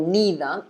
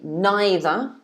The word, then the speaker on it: neither: the word neither or neither yet this is exactly the same rule the same rule same applies for this so you can either say neither or neither okay so just to